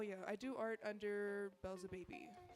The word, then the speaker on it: Beelzebaby: Oh yeah, I do art under Belza Baby. So it's like Belzebub, but just baby.